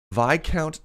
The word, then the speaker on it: Viscount: this weekend VI count I'm gonna pronounce it correctly now Viscount ticks the s's are silent sorry it's still inks